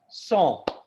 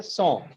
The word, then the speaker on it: Champs: That is pronounced song. Okay, song. That's it. Song. So CHAM song, P is silent.